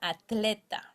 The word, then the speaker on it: atleta: Then we have Ola Atleta.